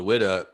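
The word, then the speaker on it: Ouidah: city is still there it's called wida they spell it differently the ship is spelled w-h-y-d-a-h and the town is spelled o-u-i-d-a but it's pronounced the same way wida so it sounds like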